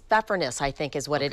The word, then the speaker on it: Pfeffernuss: I think, if I'm pronouncing it correctly, it's pfeffernuss, I think is what it is.